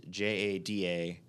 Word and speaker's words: Jada: and I was like, "How do you pronounce this?" And they're like, "Jada." I was like, "That's Jada." Jada. The letters make jada. There's nothing to make the J sound.